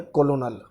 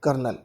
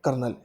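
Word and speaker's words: colonel: Question number 12 की बात करें तो ये स्पेलिंग अगर आप पढ़ें तो हमें स्पेलिंग पढ़ने में लग रही है कोलोनल, लेकिन एक्चुअली में ये कोलोनल नहीं होती, ये स्पेलिंग होती है कर्नल। क्या होती है? कर्नल। इसका जो साउंड है कर्नल होता है।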